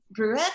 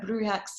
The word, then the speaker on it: Brujex: word out loud, but Brujex, so it's like brujas and brujos, basically a version on the internet, they translated it to witch or sorcerer, but Brujex is the gender neutral version of that.